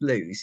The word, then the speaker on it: Lewes: Yes, it's pronounced Lewes.